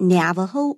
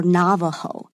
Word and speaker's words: Navajo: one of them and you can pronounce it navajo or navajo slim um they inhabit